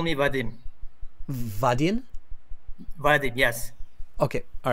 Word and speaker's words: Vadim: You can call me Vadim. Vadim? Vadim, yes. Okay, all right. Can you spell that for me?